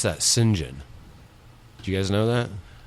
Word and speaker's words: St John: a oh St John in in Britain you pronounce that singen do you guys know that well yeah but that's not no that's not no yeah singen not me yeah no yeah yeah and you